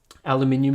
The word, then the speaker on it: aluminum: just a moment yeah aluminum is the objectively correct pronunciation I probably agree with